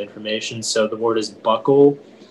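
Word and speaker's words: bokul: treat various ailments uncle are there any alternate pronunciations it's just the one buckle buckle buckle can you repeat the language version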